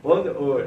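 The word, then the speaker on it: d'Eu: Como se pronuncia? Oi. Oi.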